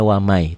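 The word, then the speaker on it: وَمَن: beda tulisan bacaannya beda ditulisnya waman dibacanya wamai tuh wamai ya Betawi gitu ya beda kalau dengan izhar tulisan dan bacaan sama kalau idgham kalau idgham tulisan dan bacaan berbeda ditulisnya Yaman dibacanya wamai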